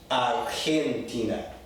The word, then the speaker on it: Argentina: Argentina, in Spanish, is Argentina, Argentina. Very, very strong guttural sound.